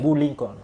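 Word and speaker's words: Bou Linkon: Boo Lincoln. Boo Lincoln, ça sonne comme Abraham Lincoln, okay. Mais ça s'écrit différemment.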